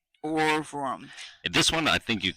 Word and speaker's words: Ohrwurm: Orworm. Orvrum. Orworm. Or Overum. Urworm. Nah, I think it's Orworm. Spell it. OHRWURM. And W's in Ooh. Germany, you say V, like BMV. Okay. Or like Bratwurst. Orvrum. Orvrum.